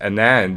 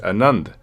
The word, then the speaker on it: Anand: and I said secondly it's not pronounced an end it's pronounced Anand yeah he goes no